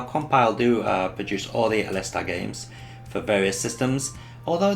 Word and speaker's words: Aleste: We also took a look at Musha Aleste, or Aliste, or Aleste, however you want to pronounce it, but the correct way is Alesta.